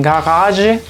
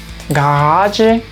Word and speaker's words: Garage: En algunos casos la G se pronuncia como una G. En este caso se lee garage, garage. Quizás es porque tiene un origen desde el idioma inglés, entonces de pronto tiene ese sonido.